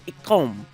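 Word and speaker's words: gqom: tricky for us and it's actually ikom it's a genre of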